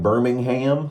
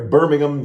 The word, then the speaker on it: Birmingham: Williams in Birmingham UK I was trying to pronounce it not American like Birmingham like we say over here Birmingham UK Darren Williams that shout